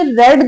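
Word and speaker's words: read: ठीक है, ही रेड the note, उसने नोट पढ़ा या उसने टिप्पणी पढ़ी।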